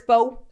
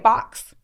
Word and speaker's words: faux: saying it wrong, like if the word is faux, bitch, and you keep saying fox. But in my world, everybody around me says faux, and they understand when I say that.